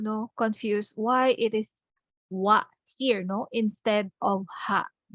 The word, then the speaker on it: は: into wa hiragana ha written in hiragana ha but pronounce as wa okay so we have